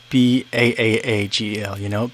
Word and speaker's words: bagel: Daniel M says, "What about people who pronounce it Baagel? Bagel." Yeah. So what's interesting is here in the Midwest, it's pronounced like bagel, like Begle.